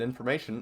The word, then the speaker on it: information: I pronounce that t sound in information as a sh, and this is called palletization.